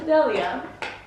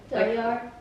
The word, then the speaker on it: Delyar: There is actually an R at the end. Yeah, no. So where yeah. does that come in? Oh my god. Basically, it is in Farsi, it's Delya. But I hate the R when people pronounce it in English.